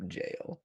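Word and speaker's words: gaol: no no no no just straight up jail like g-a-o-l yeah nope no you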